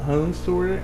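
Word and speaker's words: ransomware: né de algum vírus algum hansure aliás Essa é a pronúncia Correta que esteja ali alterando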